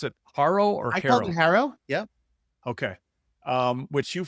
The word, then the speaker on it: HARO: Um do you pronounce it Haro or Harrow? Harrow.